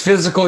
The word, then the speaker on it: fiscal: I think technically it's pronounced physical year or something. I'm just saying. Yeah. It's a physical it's not. year. It's physical. It's fiscal year in Alabama. It's fiscal year in the other 49 year.